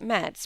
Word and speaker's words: Metz: He never was great in geography, you know, and somehow he thought that Metz, pronounced French fashion, must be on the road to Rome.